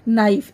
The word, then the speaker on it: knife: छुरी या फिर चाकू, इसको बोलते हैं नाइफ, KNIFE नाइफ। इसमें के साइलेंट होता है, बोलते हम नाइफ है लेकिन हम लिखते टाइम इसमें के लिखते हैं।